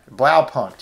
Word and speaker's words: Blaupunkt: this cassette deck and how would you pronounce that name it's Lau something maybe this learn from this video point well punt yeah that's right that means blue dot